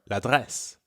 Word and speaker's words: l'adresse: Yes, and just like we connected le and appartement to make l'appartement, we connect la and adresse for l'adresse. L'adresse.